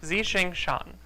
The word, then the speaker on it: Tsuchinshan: I still need assistance so it's Zing Shan is how you say the first one and then Atlas uh